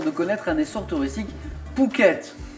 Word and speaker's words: Phuket: connaître un essor touristiques phuket mais ça s'écrit ph souk est très très